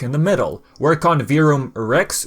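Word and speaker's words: Verum Rex: the middle work on vroom rex which the developer confirmed that you pronounced virum not virum or kh4 he was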